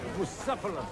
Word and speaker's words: Bucephalus: It's pronounced Bucephalus.